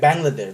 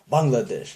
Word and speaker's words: Bangladesh: it's not like like Bangladesh that's the best example or Pakistan it's not Pakistan is Pakistan the real authentic bronze authentic pronunciation Bangladesh yeah we're demagognize it into Bangladesh and the whole world called the Bangladesh but it's